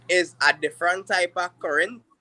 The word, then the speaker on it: Corinth: Actually is a different type of current. So it's spelled Corinth. But Uh-huh. due to Trini speech, we don't really pronounce it as current. We don't say So it's current. Corinth. We say Oh, okay. current.